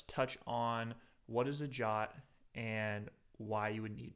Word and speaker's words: JWT: to talk about what is a JWT pronounced jot we're going to talk